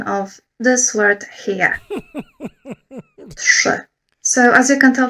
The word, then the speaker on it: trzy: I thought that today I would talk about the pronunciation of this word here. Trzy.